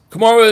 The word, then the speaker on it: Kamara: Kamara is how you say it, not spell though.